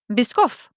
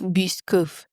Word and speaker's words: Biscoff: It is a French origin word. Oh. Oh. Bisoff. Bisoff. Bisoff. Biscoff. I would like biscoff cookie, please. Biscoff. Biscoff. It's probably biscoff then. Which just feels really weird.